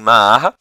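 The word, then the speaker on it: معرة: Em Ma'arra, e aí é a forma como os árabes pronunciam o nome dessa cidade, em Ma'arra, as nossas tropas, isso aqui é um relato de um cristão, tá?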